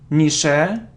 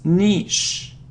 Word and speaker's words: niche: so what's next so it isn't Michele or Mick its niche niche it's one sound and